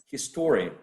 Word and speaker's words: historian: that's true right so historian the stress is placed right before the suffix historian because uh history history has the suffix in the first syllable if i'm not mistaken